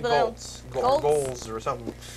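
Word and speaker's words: Goelz: Like the guy that does Gonzo, Golas, is that his name? Dave Golas? I see it when it's spelled. Dave Goltz. Goltz or something. It's an odd spelled G-O-E-L-S. Pronounce it L-Z.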